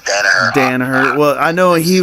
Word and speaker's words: Danaher: to your coaching and, is it Danaher or Donaher? I don't want to mess it up. I would say most people pronounce it Danaher.